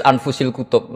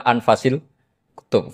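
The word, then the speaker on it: أنفس الكتب: anut bacaan saya saja di sini ditulis anfusil kutub kalau saya baca anfasil kutub karena maknanya kitab ter baik Kalau kitab terbaik bacanya bukan anfus tapi apa anfas ya nanti kamu debat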